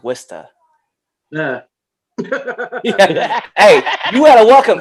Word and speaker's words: Worcester: me get this right you said worcester where's bird you know it's pronounced wista yeah hey you gotta